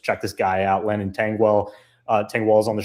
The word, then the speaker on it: Tengwall: Lennon Tangwell. Uh, Tangwell is on the show, man. Yeah, I got your name right. Is it Tangall? Yes, sir. Got me.